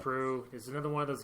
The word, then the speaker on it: St. Preux: Preux, if you want to be phonetically correct. Preux.